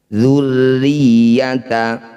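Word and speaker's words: ذُرِّيَّةَ: Dzurriyyata, semua huruf yang bertanda tasydid kecuali nun dan mim cara bacanya harus ditekan atau dibaca kuat. Dzurriyyata, di sini tasydidnya ada 2, maka ditekannya juga 2 kali.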